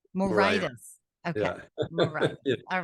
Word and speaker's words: Moraitis: last name oh it's a good Greek name morius morius okay Mor all right well so you and